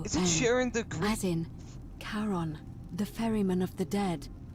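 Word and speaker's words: Charon: it's just as you described it only your pronunciation is a little off the name you heard wasn't karen it was c h a sharing oh is it sharing as in caron the ferryman of the dead who in exchange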